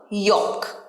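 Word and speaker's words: yolk: এটাতে এল থাকলেও এটার সঠিক উচ্চারণ কিন্তু ইয়ক। ইয়ক, এলটা সাইলেন্ট থাকে, ইয়ক।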